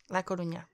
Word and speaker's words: La Coruña: La Coruña.